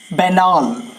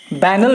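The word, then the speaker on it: banal: एंड the next word बैनाल। अगला word है हमारा बैनाल, यानी साधारण। बैनल भी पढ़े तो कोई दिक्कत नहीं है, लेकिन एक्चुअल प्रोनाउंसिएशन होगा बैनाल, अर्थात ऑर्डिनरी।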